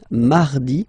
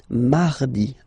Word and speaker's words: mardi: Then mardi, mardi. So you can hear that you don't pronounce it that strongly, this R. Huh? Mardi, mardi, okay?